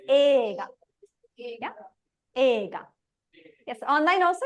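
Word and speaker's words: 映画: So even though it's written like this, you don't pronounce it as eiga. No. That E is not E. It's not even silent. It's elongating the A. It's ega.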